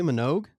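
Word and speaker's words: Minogue: Kylie Manugg.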